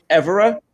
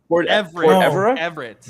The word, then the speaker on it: Everett: Make sure you pronounce the T because we don't want that to sound bad. Oh my God. Port Everett. Everett. No, because no, but he said don't pronounce the T. Make sure that you pronounce the T. Oh, okay. Because you Everett. said port people. So if you don't pronounce the T, what does it say? Poor people.